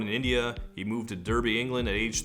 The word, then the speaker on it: Derby: He moved to Derby, England at age 3. Or Derby, they pronounce it Derby.